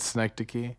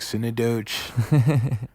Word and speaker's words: Synecdoche: Synecdoche. That's how you say it, Synecdoche. I think so. Okay, I never know. I always thought like Synodoge.